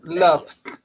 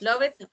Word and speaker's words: loved: You see, we never say work it, we say worked. We never say love it, we say loved.